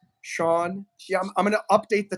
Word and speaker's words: Sean Hsieh: It's not pronounced as it sounds. It's HSIEH. Sean Hsieh.